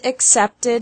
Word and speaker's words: accepted: Accept has two syllables, and accepted has three syllables.